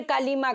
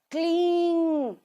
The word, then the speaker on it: क्लीं: नम ओम क्लीन Kalika क्लींग नहीं है क्लीम नहीं है क्लींग क्लीन सही से प्रोनाउंस करना यह क्लीम नहीं है क्लींग नहीं है क्लीन क्लीन ओम क्लीन कालिका नमः